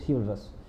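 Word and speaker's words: chivalrous: Kind होता है ना, उसको बोलते हैं शिवरस। लेकिन इसको आप ना थोड़ा सिविलस मत बोलिए, इसको समझने की उसकी स्पेलिंग से देखते हैं।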